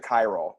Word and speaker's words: chiral: I think it's chirol or... I pronounce it chiral, but I know what you're saying.